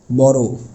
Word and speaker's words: বড়: বড় মানে ও উচ্চারণ করতে হবে। ব র মানে অটা ও এর মত উচ্চারণ হবে। বড়।